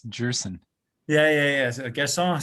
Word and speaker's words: Gerson: We've just been corrected that his last name is pronounced Gerson. It's not Gerson, it's Gerson.